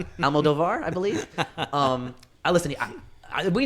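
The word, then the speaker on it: Almodóvar: Okay, so How do you guys, pronounce his name? Almodovar, I believe.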